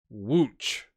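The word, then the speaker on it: Łódź: guess the LOD Z is pronounced like watch wo o tch is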